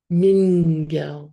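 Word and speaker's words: མི་འགལ: And I've written this as Mingel because of this little character here comes into contact with an open vowel, it turns into an N. Mingel when we pronounce it.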